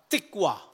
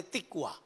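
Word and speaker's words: תקווה: Itu tikwa. Tulisannya tikvah, bacanya tikwa.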